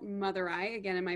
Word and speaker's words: Madurai: In a city called Madurai. Again, am I pronouncing that correctly?